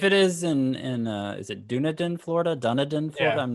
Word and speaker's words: Dunedin: I believe it is pronounced Dunedin, because the name comes from the Scottish Gaelic name for Edinburgh, Dune Aiden.